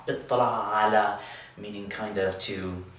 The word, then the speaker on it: اطّلع: And with tala'a, we're going to change that ta to a ta, but then we're going to have two tas, which means that we can do the same trick we did up here and put them under one roof with a shadda. Ittala'a.